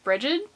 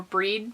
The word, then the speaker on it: Brigid: celebration for the Celtic goddess Brigid or breed depending on however you want to pronounce it I pass at bridgid um she is the